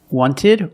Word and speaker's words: wanted: Wanted or wanted. It's more common to hear Americans say wanted. You have NT in the middle, the T is silent.